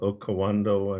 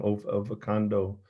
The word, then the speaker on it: Okavango: But they're in rivers, and it showed how they actually, with their bulk, actually create these tributaries in the Okavango, and I'm saying it wrong, Okavango River in the Delta in Africa.